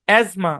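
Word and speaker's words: asthma: আচ্ছা, আরো যেসব শব্দে টি সাইলেন্ট থাকে, যেমন ক্রিসমাস, মর্গেজ, অ্যাজমা, সফেন, বুফে।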